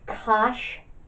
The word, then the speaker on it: cosh: is like hyperbolic cosine i pronounce that function y equals cosh x we just put a sh at the end of the cos that would be cosine okay so that's cosh